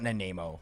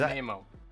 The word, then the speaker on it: Nanaimo: No, that's not Nanamo. Is Nanaimo.